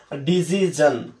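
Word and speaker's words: decision: আচ্ছা এবার দেখো ডিসিশন, এই ডিসিশন শব্দটার সঠিক উচ্চারণ হলো ডিজিজন।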